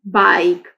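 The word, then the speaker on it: bike: बी आई के ई बाइक। अब ई must यहां पे राइट है लेकिन ई की साउंड प्रोड्यूस नहीं हो रही है। ई साइलेंट है यहां पर।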